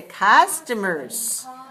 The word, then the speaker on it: customers: list is customers right how many syllables customers three syllables right where's the stress on one so we say customers and the last word